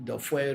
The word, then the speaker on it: Dofwe: Okay, Dofwe does doing Dofwe regularly also increase your link with Afa. Yes, you see, Dofwe. The word in Ewe is Dofwe. Is actually you spell it in DORFOE. Dofwe.